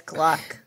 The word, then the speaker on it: Gluck: and i'd be like it rhymes with luck but it's gluck hey jen before we